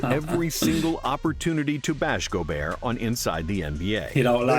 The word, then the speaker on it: Gobert: latest and current ongoing feud is with Rudy Gobear. Oh, the way he had him in the headlock. Oh, go. That's how you say his name. I thought it was Gobert.